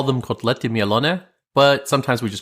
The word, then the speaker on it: Kotlety Mielone: We call them Kotlety Mielone, but sometimes we just call them Kotlety.